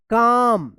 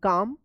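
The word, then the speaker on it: calm: nervous but Christopher remained काम यहां पर एल साइलेंट रहेगा सी ए एल एम काम बट क्रिस्टोफर रिमेन काम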